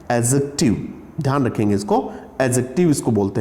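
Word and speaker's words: adjective: ये डे जो है साइलेंट होता है, एडजेक्टिव, ध्यान रखेंगे इसको, एडजेक्टिव इसको बोलते हैं।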